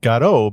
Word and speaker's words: Godot: gado is not now I'm saying gado because that's how the official documentation says it should be pronounced for English speakers I have included a